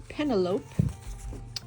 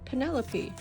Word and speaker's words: Penelope: Some people pronounce it penalope. I pronounce it Penelope. and many I think the the the unofficial survey I had done most also uh pronounce that Penelope all about her and